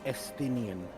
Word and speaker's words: Estinian: So, that name's pronounced Estinian.